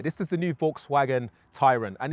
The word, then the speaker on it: Tayron: is the new Volkswagen Tyron and it's Tyron not Tyron just to get that right uh for those confused about how that might be pronounced well this is the